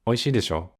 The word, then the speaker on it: でしょう: Also, people usually don't pronounce the final u very strongly. So it's just, 美味しいでしょ?